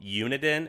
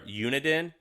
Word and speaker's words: Uniden: Uniden is a Japanese company. It's uh uni like university and then den.